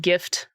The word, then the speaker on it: GIF: Uh and gift like to give somebody a present. Um give somebody a gift. Tango, how do you say GIF? Also, hi with the G like God intended.